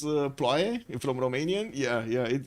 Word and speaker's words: ploaie: And the Blazecat Games was trying to pronounce ploaie from Romanian. Yeah, it's with an O though. Ploaie.